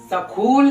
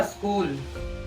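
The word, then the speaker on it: school: scheme इसको क्या पढ़ेंगे सकूल क्या स्कूल इसको सकूल नहीं स्कूल पढ़ेंगे इसको सीम नहीं है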